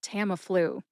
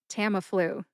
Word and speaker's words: Tamiflu: Put all three syllables together, and you get Tamiflu. Emphasize that first syllable, tam. See if you can hear the emphasis when I say it again. Tamiflu. Tamiflu.